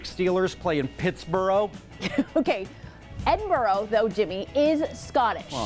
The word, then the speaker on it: Edinburgh: from this university, and I was told I pronounced it wrong. Yeah, it's Edinburgh. I actually watched The Queen, so I knew that. Okay, really? Do the Pittsburgh Steelers play in Pittsburgh? Okay, Edinburgh, though, Jimmy, is Scottish.